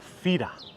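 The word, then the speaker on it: Fira: the most for this trip the city of fida i'm pronouncing f-i-r-a that's how you might find it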